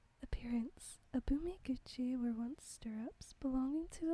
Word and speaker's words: Abumiguchi: The Abumiguchi. In the book it's spelled Abumikuchi. So that's why I called it Abumikuchi, when here it's Abumiguchi, actually.